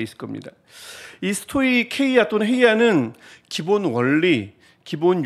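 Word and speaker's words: στοιχεῖα: 성경 책 주에도 나오겠지만 스토이케이아 여러분 성경에는 스토이 헤이라 나올 거예요 근데 해는 사실은 정확하게 발음하면 케와 해의 중간입니다 스토리 한데 그게 이게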